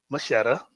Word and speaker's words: Mascetta: So, first question I always ask my my first time guest is, who is Taylor Machetta? See, I said it right this time. Got it right. Who was Mashetta and how did you get into uh the